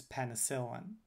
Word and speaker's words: penicillin: sentence is doctors use penicillin this is an example taken from wikipedia doctors use penicillin so notice that i'm stressing the first syllable in doctors the second syllable in penicillin and stressing but lightly